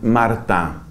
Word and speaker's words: Martin: apellido de ellos es escribe Martin o Martín en francés lo pronuncian Marta Marta Bueno este apellido mará